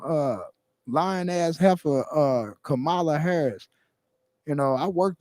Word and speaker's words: Kamala: don't dig miss kamala has a kamala that's how they try to get us to pronounce it whenever we was on the phone banks and going the doors kumala kumala kumala has kumala